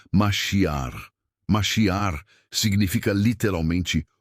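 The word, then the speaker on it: מָשִׁיחַ: Para entendermos a profundidade desta unção, precisamos conhecer a palavra hebraica para ungido, que é maiak, se pronuncia masiar.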